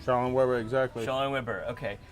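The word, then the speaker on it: Schaller & Weber: We are at Schaller and Weber. Am I saying it right? Shaw and Weber, exactly.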